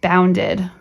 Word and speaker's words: bounded: What about the word bounded? The dog bounded towards me. Sounds like id, and it's its own. It's bound, id. This is just wailed, kissed. These are both one-syllable words, and this one is two syllables.